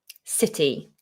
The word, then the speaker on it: city: So C is pronounced as S if it's followed by an E, by an I, or by a Y. Okay, here's an example. The word city. City. London is our capital city. It obviously is spelt with a C, but we pronounce it as an S.